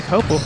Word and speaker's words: Coppell: gonna say anything I've been making sure I pronounce Coppell correctly yeah Chloe copel there we go there we go Logan here